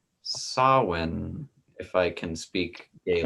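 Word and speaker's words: Samhain: uh it is called it is spelled s-a-m-h-a-n and it's and it's pronounced sawin if i can speak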